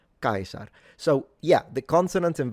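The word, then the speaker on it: Caesar: V's sound like W's the C's are always hard so you wouldn't say chzar that would be the ecclesiastical pronunciation too late for someone in ancient Rome but it would sound like kaisar kaisar so yeah the consonants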